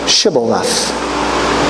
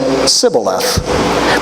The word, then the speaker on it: Shibboleth: If the man said, no, I'm not, they would tell him to say, Shibboleth. If he was from Ephraim, he would say, Sibboleth. Because people from Ephraim can't pronounce the word correctly.